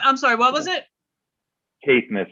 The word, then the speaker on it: Caithness: Caithness is how it's pronounced.